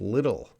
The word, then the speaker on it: little: could use please pronounce little little so the TT might sound like a D sound little little I don't